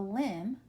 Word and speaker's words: limb: L AM D says it is limb like a limb of a tree the B is silent limb very good and